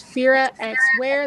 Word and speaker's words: Firaxwear: But if you want to find it by itself, it's Firaxwear. The X is silent.